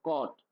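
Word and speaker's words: caught: ब्रोट तो यहां पे भी जी एच साइलेंट देखिए आपने कैच का देखा था तो क्या था? कॉट तो जी एच साइलेंट।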